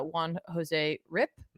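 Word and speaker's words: Juan Jose Ryp: this is Ben Percy with art by uh Juan Jose rip am I saying that correctly I was we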